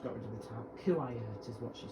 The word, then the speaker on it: Kuwait: I used to first pronounce it Kuwait. I was basically reading the letters. However, when NCHLT said Quarriat, that sounds like the most logical pronunciation, if I haven't just got rid of the tab.